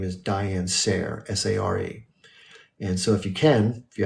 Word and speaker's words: Sare: And the last name is spelled S-A-R-E, Sare.